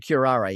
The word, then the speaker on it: Curare: Touch of Curare, yeah, absolutely.